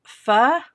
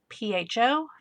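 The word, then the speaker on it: phở: I love pho. It's spelled PHO, pho.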